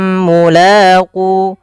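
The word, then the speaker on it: ملاقوا: Maka annahum mulaqu ditahan dulu. Banyak juga yang tidak menahannya. Misalkan alladina yadununa annahum mula, maaf annahum mulaqu. Harusnya ditahan dulu untuk menyempurnakan mimnya.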